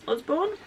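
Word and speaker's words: Usborne: from Yelp 2022 yalk um from the Osborne Osborne and that's how you say it counter and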